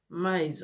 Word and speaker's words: Mize: C'est Naissance surnaturelle et l'auteur est Jackie Mize. En tout cas, ça s'écrit M-I-Z-E.